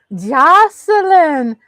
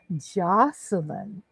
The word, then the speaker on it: Joseline: Jocelyn Hernandez, y'all.